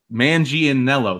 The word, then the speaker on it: Manganiello: No, but yeah, Joe Manganiello, I think he could Manganiello. There, I'll say it right instead of like blah.